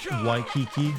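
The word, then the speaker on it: Waikiki: what people go there W Kiki you say it like Why Kiki thank you for the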